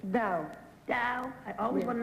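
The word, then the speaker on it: dhow: Dow. Dow. I always want to know how to spell it. Daha. I always thought it was Daha. Dow. Now I know.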